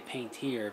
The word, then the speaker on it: Paintier: And I say Paintier because this is how it's spelt from Paintier products.